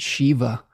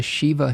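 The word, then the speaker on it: Živa: goddess of life, and I believe it's pronounced Shiva, similar to the Indian god, but if there's a better pronunciation, please help me out with this.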